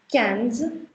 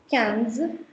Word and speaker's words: quinze: Then is quinze. Quinze, which is IN ka sound, so it becomes quinze.